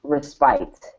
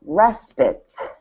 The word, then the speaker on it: respite: So you see the word spite and you know it's a long I. The I says I, spite. But as soon as you have this word, it's not respite, it's respite.